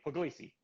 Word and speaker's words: Pugliese: good it's good robert there's actually no there's no right way to say my name in english because it's an italian state called puglia so my name is but i tell everybody puglisi okay the way you pronounce